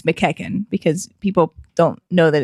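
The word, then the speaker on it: McEachin: It is good to know that it's McKecken because people don't know that it's pronounced that way.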